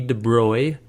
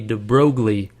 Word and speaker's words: de Broglie: louis de bruy now it looks like you pronounce this louis de broglie and that's what i always said i always read this and i said de broglie in my mind and i knew that wasn't right if you look it up